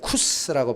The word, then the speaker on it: 구스: 이것도 히브리어인데 원래는 쿠스라고 발음해요. 쿠스, 검다라는 뜻이에요.